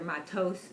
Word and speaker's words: Matot: It's Powershot Matot-Masei, or Matos, depends how you pronounce it.